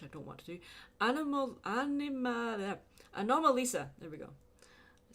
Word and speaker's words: Anomalisa: Anomalisa.